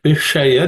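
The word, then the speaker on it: विषय: Tattu Vishaya, this sha is a cerebral sha. So that's the only thing which you may have to pay attention to.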